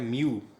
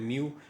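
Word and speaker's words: mu: में होता है लेकिन उसको प्रोनाउंस करते हैं म्यू। वैसे इसकी एक्चुअली जो प्रॉपर प्रोनाउंसिएशन है वो मू है, जो ग्रीक प्रोनाउंसिएशन, लेकिन हम चूँकि यूज टू होते हैं म्यू कहने के लिए, इसको आप भी म्यू कहें।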